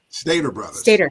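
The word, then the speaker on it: Stater Bros.: addiction he is at is it Stater or Stat how is that pronounced Stater Brothers there you go well you obviously know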